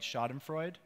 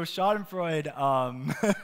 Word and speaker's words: Schadenfreude: I guess this is a German word right schadenfreude and I pronounced it right I looked at that word so schadenfreude that's a great word you know I have